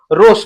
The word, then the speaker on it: rose: और यहां पर देखिएगा एस का फोनिक साउंड यहां पर ज है, ठीक है ना, और यहां पर जो ई है वो साइलेंट है।